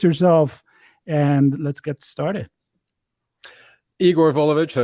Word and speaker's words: Igor: Igor Volovich, so it's actually pronounced Igor, but it's a common mistake.